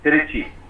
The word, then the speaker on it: Trichy: Oh, sorry, Trichy, as it is supposed to be pronounced.